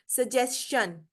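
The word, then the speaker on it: suggestion: the word ending S यानी शन से पहले टी न से पहले अगर एस आ जाता है तो उसकी साउंड जो है वो स और च दोनों का मिक्सचर होगा जैसे सजेशन सन सजेशन ठीक है ये शन की आवाज नहीं निकाल सजेशन फिर डाइजेशन डाइजेस्ट चन ठीक है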